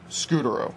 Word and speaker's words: Scutaro: Scutaro, that's how you pronounce it.